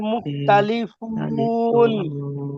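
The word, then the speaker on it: مختلفون: আচ্ছা আমি বানান করে দিচ্ছি, দেখেন। মিম খ পেশ মুখ, তা জবর তা, মুখতা লাম জেল্লি, মুখতালি, ফা ওয়াও পেশ ফু, মুখতালি ফু, নুন জবর না, মুখতালি ফুনা, মুখতালি ফুনা, মুখতালি, মুখতালি ফুনা।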